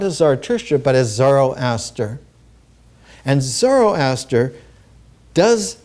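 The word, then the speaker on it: Zarathustra: as zarria but as Zoro Aster and zoroaster does not mean the same thing that zarou means in Ancient avestan One pronounces it Zara usra which means he who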